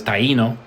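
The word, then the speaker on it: Taíno: well-known awakin languages is known as tyo which it has an accent on the eye sorry I forgot to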